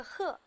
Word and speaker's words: 呵: 这个呵在这里是多音字，念第四声。